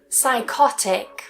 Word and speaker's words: psychotic: psychiatrist psychic psychic psychology psychology psychotherapy psychotherapy psychotherapy psychotic psychotic.